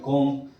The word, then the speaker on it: comb: बच्चों ध्यान से समझें, इसको टोम्ब नहीं बोलते हैं ना, ये है ना COMB, कोम, तो बी साइलेंट है दोनों का, टोम और कोम।